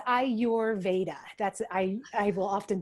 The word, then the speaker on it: Ayurveda: by ayurveda i'm pronouncing ayuverda correct is that is that how you say it yeah close it's i your veda that's i i will